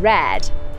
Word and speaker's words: Raad: in this name too often when you see a double a in manx like in red you get an a sound in the middle of